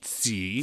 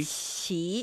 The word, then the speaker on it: 奇: The first syllable, it's not the CH sound from English, right? It's somewhere in between. Somewhere in between. Yeah. So 奇, qi, qi.